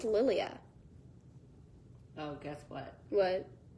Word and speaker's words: Lilia: It's pronounced Lilia. Oh, guess what? What? It's not. Wouldn't it be funny if you're like, it's actually? Actually, it's Lilia.